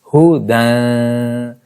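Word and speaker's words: هُدًى: Yes, hudan. Ya will be silent because it has no sign.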